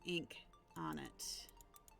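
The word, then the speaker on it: Inkarnate: in chat for you it's not spelled the way that uh incarnate the word incarnate is spelled so it's Inc Arn it like the ink you use in a pen um it you can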